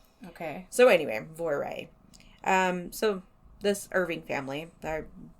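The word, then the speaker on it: Voirrey: So, last podcast on the left called her Voira. Okay. M called her Voiri because that's like phonetically how it looks. Okay. And Dark History said Voire. And he's actually English, so he probably is correct.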